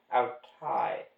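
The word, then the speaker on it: αὐταί: Altai Autai. rhymes with isle.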